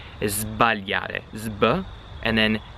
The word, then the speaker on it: sbagliare: When you're saying those two verbs, you have to pronounce the S like a Z, like a Z. Sbagliare, zb, and then svegliare, zv, okay?